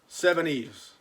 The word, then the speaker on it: Seveneves: I'm not that smart of a fellow, but it took me a little bit of time to realize that SEVENEVES backwards is Seven-Eves, and it's what the French call a palindrome.